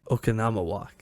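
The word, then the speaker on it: Oconomowoc: I don't remember how to pronounce it. the city in Wisconsin. Yeah. Okanama. Okanama walk.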